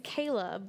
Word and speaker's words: Cahla: So, everybody always thinks it's like the veggie. You pronounce it like the veggie, I guess. But, uh, so my real name is Kayla, but spelled like Kala is in cauliflower.